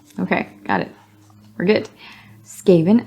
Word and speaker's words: Skaven: got it we're good Skaven as in Craven not without good reason